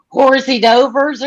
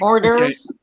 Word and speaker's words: hors d'oeuvres: You call them hors d'oeuvres? Yeah, but but hang on a second. You using a French word. So the pronunciation is French.